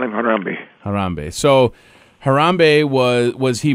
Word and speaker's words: Harambe: Well, I just call him Harambe.